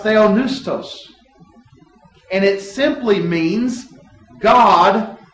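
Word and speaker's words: θεόπνευστος: The Greek word is pronounced theonoustos, and it simply means "God breathed."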